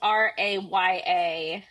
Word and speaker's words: Rhea: Her name is Raya.